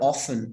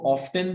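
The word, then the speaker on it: often: अच्छा जी, कैन नॉट be counted, they are ऑफन. इसको ऑफ्टन भी प्रोनाउंस किया जाता है, इसको ऑफन भी प्रोनाउंस किया जाता है. जैसा आपको अच्छा लगे आप प्रोनाउंस कर सकते हैं. ब्रिटिश लैंग्वेज में दोनों एक्सेप्टेड है.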